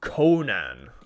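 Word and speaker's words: Coman: and didn't deserve to go through uh it's pronounced Conan okay I'll try to remember that Conan how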